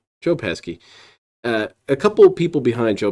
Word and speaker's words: Joe Pesci: How do you always pronounce his name? Joe Pesci.